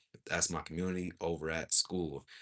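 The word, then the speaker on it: Skool: That's my community over at School. School is spelled s k o o l.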